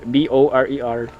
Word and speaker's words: borer: You know the borers, the one that are on the B-O-R-E-R. I'm pronouncing the right way. Borer. Borer, yeah. Borer, exactly. Yeah.